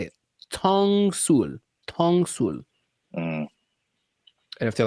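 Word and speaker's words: 똥술: Ttongsul.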